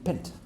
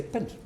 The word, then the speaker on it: pint: It should have been pint using the rules. Can everyone see that? If it's like mint and yint, lint and flint, and etc., stint, you should say pint. But the correct pronunciation is pint, and according to the